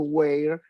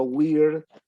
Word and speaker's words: weird: Y finalmente Jorgelina nos trae lo que podríamos decir una especie de Weir gaucho o New Weir, o Weird, para ser más propios con la pronunciación, pero si usted quiere